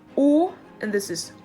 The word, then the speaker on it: å: much the same or has two different ways to be pronounced depending on length so the long one and a short one this is oh and this is oh I do not have